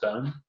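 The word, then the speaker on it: Boon: from a brewery called bone B oon looks like boom pronounced bone I think it was in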